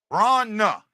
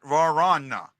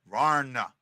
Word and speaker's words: Vrana: I hear 2 syllables. Vrana. Just like I've been saying it. Not Varana. Not Varana. Varna.